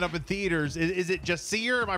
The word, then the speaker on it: Jacir: to be opening up in theaters is it just see her am I pronouncing that right yeah you're right yeah before